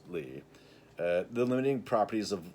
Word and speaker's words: Lie: Lie sopus lee but it is pronounced lee.